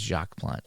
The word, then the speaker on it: Jacques: Oh, by the way, PJet says Jacques the S is silent. It's Jacques Plante.